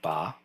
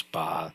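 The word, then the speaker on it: 八: might already know that the letter 8 in Chinese is pronounced something like ba oh that didn't work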